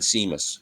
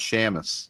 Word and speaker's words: Seamus: Uh, I don't even mind Seamus, who I understand the dog is Steve Marriott's dog, I think. Right. Yep. And Glenn, we pronounce that Sheamus.